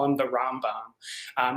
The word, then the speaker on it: Rambam: uh right rmbm and that's just pronounced as rambam um so in just